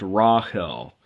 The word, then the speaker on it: Rahel: it's pretty interesting that the third letter in Hebrew is the letter he so it should be pronounced Rahel it's rash Olive he